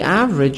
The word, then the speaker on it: average: In my hometown, the average apartment has 2 bedrooms. Average. E silent.